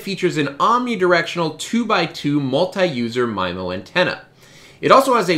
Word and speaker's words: MIMO: i say multi-user mimo other people have corrected me and said it's supposed to be memo apparently there's some contention